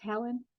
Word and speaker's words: Helon: So, is it pronounced Helen?